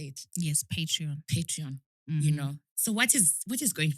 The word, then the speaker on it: Patreon: Yes, Patreon.